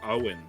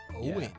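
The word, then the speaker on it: Eoin: I Googled it and apparently it's pronounced Owen Owen it's Irish yeah I did the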